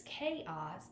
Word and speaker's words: chaos: You may not even know it's pronounced chaos. That's okay. You may say ch, and you don't know the word. That's fine. Call it blank. It's okay. It's chaos, but if you didn't know that, you could